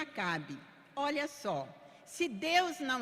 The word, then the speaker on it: Acab: Para quem não está acompanhando com a Bíblia, Acabe é A-C-A-B, B mudo, e pronuncia Acabe.